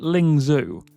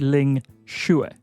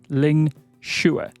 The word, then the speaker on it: Ling Xue: But this isn't Ling Xue. This is Ling Xue. Now, it's not necessarily an easy pronunciation for an English speaker. It's not really a sound that we have in our language or a name that we have in our language.